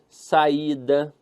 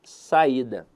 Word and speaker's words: saída: E eu quero avaliar com vocês aqui a palavra saída. Veja que a sílaba tônica dela está na penúltima sílaba.